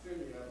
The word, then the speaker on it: Sinai: And the second time was in Numbers chapter 9 at Mount Sinai, where the brother once told me it's pronounced Mount Sinai, but on that occasion, in Numbers chapter 9,